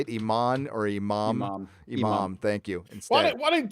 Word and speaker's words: Imam: They'll probably have him talking to, an Iman or Imam. Is that how you say it? Iman or Imam? Imam.